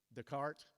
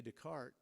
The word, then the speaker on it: Descartes: Descartes. It's spelled like it should be with an S at the end, and so it always throws me.